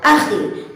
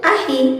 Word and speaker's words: akhi: Seumpama kita akan melafazkan kosakata ukhti atau akhi bukan dengan pelafalan uhti ataupun ahi, maka itu adalah pelafalan yang salah, karena huruf kha dikeluarkan